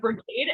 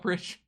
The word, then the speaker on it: Brigade: back go back it's it's Brigade not bridge but yeah I think